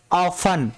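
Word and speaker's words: often: अगला देखिए यहाँ पे भी टी वर्ड साइलेंट होगा और इसको क्या पढ़ेंगे हम, इसको क्या पढ़ेंगे, इसको क्या पढ़ेंगे, ऑफन।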